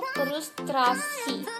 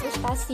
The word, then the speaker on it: frustrasi: Itu kita biasa ucapannya frustasi, bukan frustrasi kan. Itu karena kita tuh pandai-pandai ya teman-teman ya. Padahal yang benar itu frustrasi.